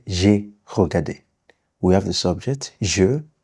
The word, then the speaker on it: regardé: And then you know when this accent is on E, it's pronounced E. That's why I will say j'ai regardé.